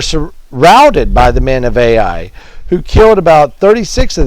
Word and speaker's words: Ai: the people they come against this city called a I spelled a I so I pronounce it AI I kind of want to